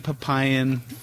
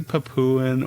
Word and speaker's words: Papuan: If you're saying Papayan python, then maybe it would be kind of more humane to correct that person and say it's actually Papuan or Papuan or however you want to say it.